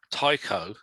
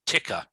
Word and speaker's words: Tycho: brahe and his godson chris lintott called him tycho and patrick turned around very quickly no no no no it's ticker okay yes and then